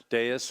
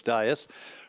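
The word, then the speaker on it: dais: We also have a special guest tonight up at the Deis, which is the proper way to say it, even though everybody else in Es Park says DAS.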